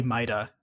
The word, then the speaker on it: Mida: sure no they do they directly say mida in the third game because his voice acted and that's why i count you know retroactively correct myself they say mida like mida multi-tool and so you have